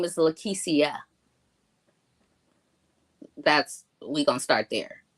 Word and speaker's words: Lekecia: how it just looks it looks like Lisha but it's not it's it's pronounced lisia okay so right go